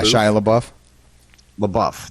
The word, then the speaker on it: Shia LaBeouf: comes up other than this might be that Shia LaBeouf thing is that how you say his name yeah both yeah Shia LaBeouf that's right Shia LaBeouf arrested at anti-trump Art